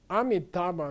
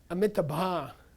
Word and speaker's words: amitabha: with sanskrit okay and people mispronounce it all the time army taba means anyway amitabha means an immeasurable light not measurable mytha ba